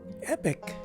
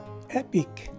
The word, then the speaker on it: epic: of pronouncing this word this letter i is a short i it's a regular sounding letter i so the correct way to pronounce this word is epic as opposed to epic so if i were